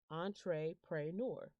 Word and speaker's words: entrepreneur: little black and white picture is it says entree pray nor i say it that way because believe it